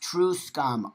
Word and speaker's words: truscum: Oh, it's pronounced true scum, also known as trans medicalist and trans fundamentalist, are trans people who delegitimize the gender of the other trans people.